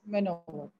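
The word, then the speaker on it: maneuver: very happy man word that means uh it's pronounced manuver that means move very carefully and the next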